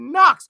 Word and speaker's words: Knox: well gosh Dagon how his name start with K but but but but but but but we pronounce it Knox why we started with